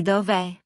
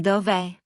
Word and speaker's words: dov'è: Dove would put 2 vowels together, so Italian glues them. That's where the apostrophe comes from. Di dov'è? Di dov'è?